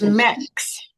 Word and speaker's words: Mex: It's like, it would be like how you would say Mexican, Mex.